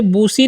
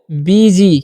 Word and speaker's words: busy: अब BUSY है, तो इसे बूसी नहीं पढ़िएगा, क्या पढ़ना है आपको, BG, क्या पढ़ना है, BG, ठीक है।